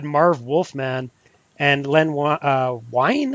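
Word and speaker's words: Wein: Um you actually had Marv Wolfman and Len uh Wine I think is how you pronounce his name.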